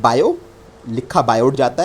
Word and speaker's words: Biot: अब इसमें बायो पढ़ रहा हूँ तो टी साइलेंट रहता है, नाम कंप्लीट बिल्कुल यही है।